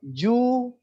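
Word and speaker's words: 銃: Contohnya jiu, jiu itu artinya kebebasan. Jiu. Tapi kalau ju itu senapan. Jadi beda besarnya yu-nya itu kalau kita salah arti, maksudnya misalnya kita nampak tulisan, oh itu yu-nya besar gitu ya. Yang huruf kedua ini cara bacanya yu kan. Itu yu-nya besar, oh berarti jiu gitu, jiu. Oh ini artinya kebebasan gitu. Ternyata yang nulis itu bukan jiu tapi ju gitu kan. Itu ju senapan gitu.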